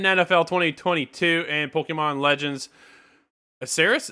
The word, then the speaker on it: Arceus: Madden NFL 2022 and Pokemon Legends Arceus. Is that how you pronounce that one, Scott? On January 28th, 2022. That's Arceus. Arceus.